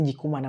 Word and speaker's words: Dikoumana: On m'a dit de prononcer Dikoumana. Ma soeur Francis m'a dit c'est Dikoumana. Ce n'est plus Dikoumana.